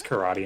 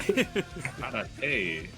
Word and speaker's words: karate: I felt so silly when I realized that the silly non-joke of how they pronounce karate in SpongeBob is actually just them telling people how to say it correctly. Karate.